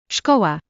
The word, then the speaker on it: Szkoła: S and Z is like the sh in ship. This can be seen in the word for school. Szkoła.